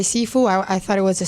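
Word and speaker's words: Cifu: Seafood. His last name is spelled seafood, but I thought it was seafood all the time. C-I-F-U.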